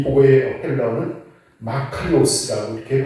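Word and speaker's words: μακάριος: 이 복의 헬라어는 마카리오스라고 이렇게 발음을 하는데 4가지의 경우로 이것을 그 의미를 해석할 수가 있을 것입니다.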